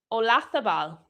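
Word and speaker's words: Oyarzabal: Olathabal. Well, he's just scored. So they're pronouncing the Y as an L.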